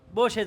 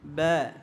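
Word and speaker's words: باء: আর আমরা সাধারণত বলি থাকি বা। কি বলি? বা। বা বলবো না। বা বললে এটা কি হয়ে যাবে? মোটা হয়ে যাবে।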